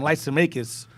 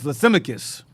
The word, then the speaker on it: Lysimachus: You had we call him Lysimachus. It's Lysimachus.